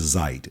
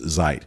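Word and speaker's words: Zite: the most extensively is Zeit, Z-I-T-E. It's probably a play on the German word for time, Zeit, which is spelled slightly differently.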